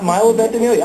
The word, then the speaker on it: Ventimiglia: How do you pronounce his last name? You said it. Milo Ventimiglia.